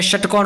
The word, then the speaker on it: षटकोण: और ये है षटकोण वाला श, मुर्दा से बोला जाता है।